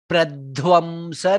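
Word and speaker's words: प्रध्वंस: Bhava bhaya pradhvamsa naikaushadham. Dha mahaprana. Pradhvam, dha is mahaprana.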